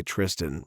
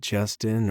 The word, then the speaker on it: Tristan: For some reason, people just can't say Tristan right. I always get Justin or Christian.